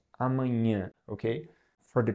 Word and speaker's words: amanhã: So it's a very specific sound like amanhã. And amanhã is a word that means tomorrow. But this sound is very specific. So you just gotta kind of learn how to say it and keep trying, and at some point you're gonna be able to speak it.